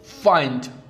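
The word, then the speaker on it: find: तो आई एन डी जब भी आता है हम इसको पढ़ते हैं आइंड ठीक है जैसे इन फाइंड काइंड माइंड ब्लाइंड या बिहाइंड जब भी आई के बाद एन डी आता है तो ज्यादातर उच्चारण में उसका उच्चारण आई का उच्चारण आई हो आई होता है।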